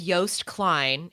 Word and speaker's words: Joost Klein: Okay, so the artist's name, his name is Joost Klein. It's spelled Joost, and his last name is Klein, Klein.